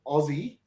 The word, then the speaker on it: Aussie: you use the word Aussie I know it's spelled a-u-s-s-i-e but for our U.S counterparts we have a lot of us guys here replace the S with a z because when we hear